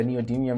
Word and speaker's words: neodymium: Yeah, neodymium drivers.